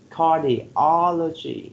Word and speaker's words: cardiology: one we have cardiology so the third syllable receives by uh the stress right cardiology so number one you